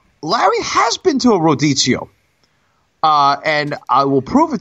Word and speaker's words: Rodizio: Spell it for me, please. R-O-D-I-Z-I-O.